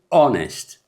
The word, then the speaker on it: honest: our بإيش تجمر إيش كن silent يا قاليتي honest not honest بزحت honest بليم أبقى قال حتى